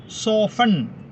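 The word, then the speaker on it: soften: സോഫ്റ്റൺ എന്ന് എഴുതുന്നു, പക്ഷേ വായിക്കുമ്പോൾ ടി ഉച്ചരിക്കാറില്ല. സോഫൺ. സോഫൺ.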